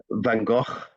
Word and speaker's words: van Gogh: especially interested in the work of um vincent van gogh so you're yes and i know that i'm not pronouncing his name properly but uh you want to try it van gogh van gogh Perfect.